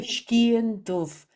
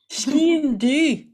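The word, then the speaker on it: sgian dubh: And the dove Isabel, in the Irish language, dove means black. And of course, they pronounce it differently in Scotland. So we say Scian dove, the black knight. And in Scotland, they say, what do they say, Shona? Scian du.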